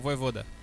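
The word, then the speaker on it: Vojvoda: Ah, é o Voivoda.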